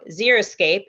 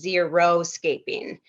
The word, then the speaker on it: xeriscape: less precipitation um so xeriscape is when the aim is low water consumption or very minimal and then some people mispronounce it but it's actually a whole different thing is zero scaping which means there's no